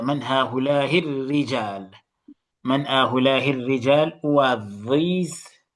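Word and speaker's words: الرِّجال: The ra has a shadda. من هؤلاء الرجال.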